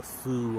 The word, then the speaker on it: pho: little birds on it it's pronounced however almost anywhere you go if you say faux or Foo or whatever they still know what you're doing they don't care oh